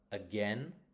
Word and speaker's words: again: Again is on the second syllable.